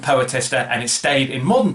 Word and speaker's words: poetaster: Now, it looks like it should be pronounced poetaster. It's actually pronounced poetester, I believe, and it means an inferior poet, a writer of trashy verse, especially one with pretensions.